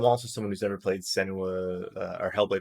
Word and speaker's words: Senua: You talked about one of our major game releases this week, which is it Senua's Saga? Is that how you pronounce it?